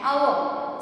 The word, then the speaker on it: hour: You are late by dash hour. So hour, O sound is coming. Hour. So H is silent here.